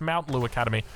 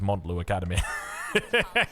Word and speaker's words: Montlu Academy: that will comment saying it's not Montlu Academy, it's Mount Lu Academy. No, my friend, it is Montlu Academy.